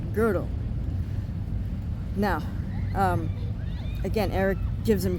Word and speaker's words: Gödel: So Terrence makes the gross error calling him, "Kurt GO-DELL." Okay, the problem is, it's "G O" with the umlaut [ö]. That's why it's pronounced, "Kurt GUH-DLE."